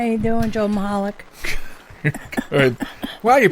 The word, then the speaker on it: Michalec: hi lovely Sharon how are you doing Joe Moloch why are you pronounced it right I always pronounce it right